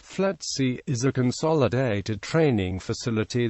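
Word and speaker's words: FLETC: law enforcement agencies the FC commonly pronounced flaty is a Consolidated training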